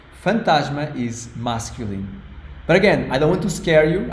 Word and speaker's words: fantasma: key shave is feminine the other word fantasma fantasma it's a very long word fantasma Fant three syllables f it means ghost